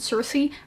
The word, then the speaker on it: Circe: way, I was wondering, everyone pronounced it Circe, but I'm pretty sure like the official Greek pronunciation of this mythical figure is Kirke, which sounds kind of awful.